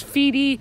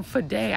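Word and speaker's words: Fedde: actually I'm not proud I'm not sure you pronounce his name it's fede some people call fidei I'm pretty sure it's fede but he's gonna be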